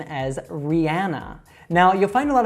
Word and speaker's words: Rihanna: All right, so she would say her own name as Rihanna. Now, you'll find a lot of Americans that also mispronounce this by saying Rihanna.